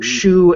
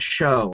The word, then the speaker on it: shu: of those other translations the Chinese actually pronounce it two different ways the same character so Shu and show so that's why there's